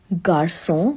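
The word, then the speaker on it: garçon: It tells you C as a soft s sound when it is followed by vowel a, o, and u.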